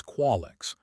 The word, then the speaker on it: Qualex: My name is Qualex, 3 syllables with a clicking sound on the second that most species couldn't pronounce correctly.